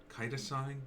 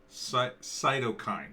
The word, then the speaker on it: cytokine: a a kida sign i had this pronounced the other day cytosine no cytokine storm it's a cytokine storm um which is apparently